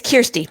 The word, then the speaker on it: Kirsty: youth development and emotional wellness of the group christie thank you so much for joining us great